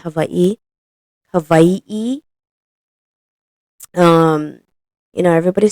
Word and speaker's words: Hawaii: that's the proper way Hawaii is the Caucasian way of saying Havi it is pronounced Havi hav um you know